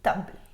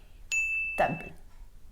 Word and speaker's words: table: Donc ça s'écrit T-A-B-L-E et vous ne prononcez pas le E. Vous dites table. Table. Pas table. Table.